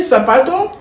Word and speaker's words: sapato: How do you say sapato? Sapato with the sap.